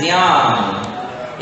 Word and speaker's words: ज्ञान: तो बन जाता है ज्ञान। इसका शुद्ध उच्चारण है ज्ञान।